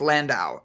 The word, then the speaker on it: Landau: name right she goes i think it's landau and she got it right she one of our